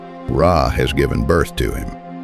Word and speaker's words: Ra: The first sign is a sun disk, pronounced Ra.